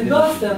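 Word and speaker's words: Duster: Зовсім не Дастер, а Дустер. Дустер, пишеться Дустер. А читається Дастер, хто знає на землю. Ні, так і читається, там по-німецьки. То теж не Дустер, там по-німецьки.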